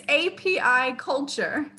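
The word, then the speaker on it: apiculture: baseball player dd apricot it's api culture that's how it's spelled aquaculture it's beekeeping oh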